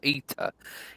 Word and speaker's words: ETA: ETA, that's how they say it.